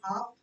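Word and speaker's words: half: चाहे जैसे for example हाफ, it's never हाफ, हाफ क्या प्रोनाउंसिएशन होती है? इट्स हाफ, वो हाफ नहीं होती, वही वाला हाफ जो आपने सुना, ठीक है?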